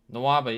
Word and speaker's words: Nwaba: Rebounded by Noava. And that's how you say it, right? Nwaba, yeah. You got Nawaba.